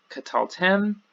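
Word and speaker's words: קְטַלְתֶּם: good to go then here we have qatal Tim qatal Tim so the last syllable gets the accent but notice there's a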